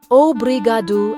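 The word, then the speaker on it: obrigado: They sound like obriadu and obriada.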